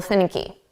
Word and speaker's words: finicky: Now, we're going to put the syllable stress on the first sound.